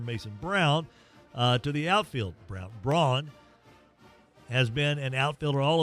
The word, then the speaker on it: Braun: if I'm Mason Braun, how do you say B-R-A-U-N? Braun? Yeah. Yeah, why am I got in my head to say Brown?